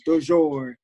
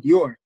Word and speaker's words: Dior: It was Bonjourno, Dujour, but he could never say my name, Dior.